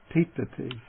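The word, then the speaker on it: tiṭṭhati: So the retroflex T, T, T. Let's take an example. The verb for stand is titati. So there the T comes in the middle.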